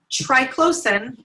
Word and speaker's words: triclosan: Triclosan, or triclosan, I've heard it pronounced both ways, is very common in hand sanitizers, in deodorant, in toothpaste, and that is a hormone disruptor.